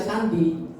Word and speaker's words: candi: itu maksudnya candi ya candi itu kan tulisannya C ada ekornya di bawah ya seperti Cakka kan bacanya Saka jadi candi itu ya Sandi sehingga sebuah candi atau